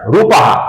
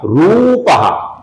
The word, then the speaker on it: रूपः: कुछ लोग इसका उच्चारण रूपः ऐसा ह्रस्व करते हैं जो कि गलत है। इसका उच्चारण हमें लंबाई के साथ अर्थात दीर्घ उच्चारण करना है। इसका उच्चारण होगा रूपः, और रूपः का जो